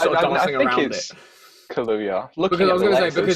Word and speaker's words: Kaluuya: I can't pronounce his first name. His last name, sorry. Is it Daniel Kaluuya? Kaluuya.